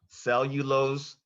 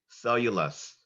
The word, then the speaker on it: cellulose: yes I am your word has two correct pronunciations cellulos cellulous cellulose c e l l u l o